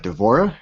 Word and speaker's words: D'Vorah: we got one of the newer characters uh d'vorah is that how you pronounce that yep y I did watch her